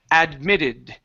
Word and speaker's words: admitted: Admitted. Admitted. Instead of saying ad, admitted. So, there's no need to finish the D, it's admitted. Admitted. Admitted. Good. Our stress is going to be here.